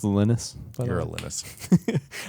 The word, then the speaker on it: Linus: the the Unix licensing drama was such that Lionus wanted a a Linux a Unix clone for wind for for Windows compatible PCs. Okay. X86 PCs. It's pronounced Linus.